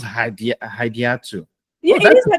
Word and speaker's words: Hadiatu: Hadiatu. So Hadiatu? I'm very. Oh, okay, good. You pronounce that better than Hadi, so you can call me that if you want.